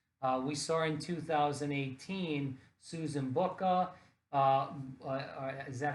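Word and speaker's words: Bucher: We saw in 2018 Susan Booker.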